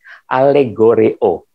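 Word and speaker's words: ἀλληγορέω: eo alegori Oh ini dalam bahasa Yunani dibacanya seperti ini alegor eo Nah jadi artinya hiasan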